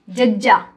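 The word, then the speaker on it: ਜ਼: जज्जा, ZAZZA, जज्जा, जज्जे पैर बिंदी जज्जा।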